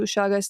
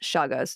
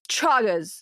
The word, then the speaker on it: Chagas: five specifically being most important in context to shagas disease. Um and it's c h a g-a but it's pronounced shagas disease.